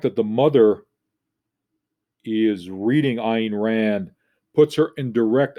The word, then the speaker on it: Ayn: And remember that Ayn rhymes with mine, was this Russian philosopher.